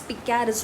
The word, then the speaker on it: picaresque: so this is spelling is p-i-c-a-r-e-s-q-u-e and it's pronounced it's picares noble so pika is a word that means